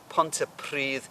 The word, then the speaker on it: Pontypridd: In the first story, in a pile of shoes, there's a town called Pontypridd. Pontypridd, that double D on the end is the.